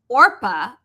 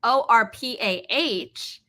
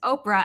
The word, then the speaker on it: Orpah: It was spelled Orpah, Orpah, after the biblical figure in the Book of Ruth, but people mispronounced it as Oprah, and it stuck.